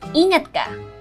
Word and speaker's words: ingat ka: It's ingat ka.